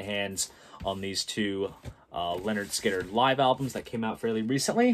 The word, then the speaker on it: Lynyrd Skynyrd: of vinyl right here so that is for pronounced leonard skinner and then we get to second helping and